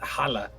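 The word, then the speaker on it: halla: looking stuff up but holla is is how you say hello it's it's it's h-a-l-l-a with an accent i don't understand and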